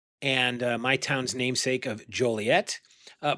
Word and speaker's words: Joliet: Uh, it explorers Marquette and my town's namesake of Joliet. Uh, probably pronounced Jolier because he was French documented the fearsome drawing in 1673.